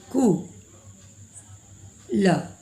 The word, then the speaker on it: कुल: जैसे यहाँ पर बोला जाएगा कुल, कुल, जल्दी में बोला जाएगा, सॉफ्ट साउंड कुल, तो हम का में छोटा उ को लगाएंगे।